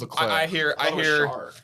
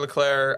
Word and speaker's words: Leclerc: So Charles Leclerc. I hear Charles Leclerc. I hear Charles Leclerc. I hear a hard C at the end every now and then.